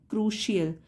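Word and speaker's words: crucial: का उच्चारण लिखा है प्रोनंसिएशन कैसे होगा क्रुशल क्रू शियल तो सी आई जब होगा तो उसको श पढ़ेंगे क्रुशल time management is अ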